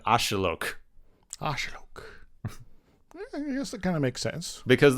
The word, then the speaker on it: axolotl: likes now that's that's a massive mispronunciation apparently oh that's why I can't can't pronounce it apparently it's a lot closer like this is still like apparently a regional variant and I'm sure I'm mispronouncing it still apparently it's a lot closer to ashilok kind of makes sense